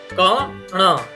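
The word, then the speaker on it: કણ: It's not kana or kana. It's kana.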